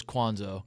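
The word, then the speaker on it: Cuonzo: so it looks like Kwanzaa but he actually pronounces it cons oh now yes I swear when he was at Purdue's Kwan's oh it is been Kwan's oh yeah his entire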